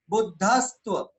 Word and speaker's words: बुद्धस्त्व: तो वैसे ही बुद्ध, बुद्धस्त्व में अब इसको जब उच्चारण करते हैं तो बुद्ध के साथ इस आधा सा को बोल दें साथ में, बुद्धस्त्व बुद्धस्त्व बुद्धस्त्व बुद्धस्त्व मेव विबुधार्चित बुद्धि बोधात त्वं शंकरोसि भुवनत्रय।